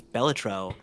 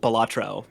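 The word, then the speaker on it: Balatro: by the way uh beautiful pronunciation on that I've never heard anyone else say it batro before beautiful is that is that wrong no that's correct Wikipedia is correct but everyone I've heard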